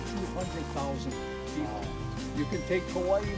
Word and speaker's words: Kauai: And the oldest island, Kauai, not Kauai, okay? K-A-U-A-I, Kauai.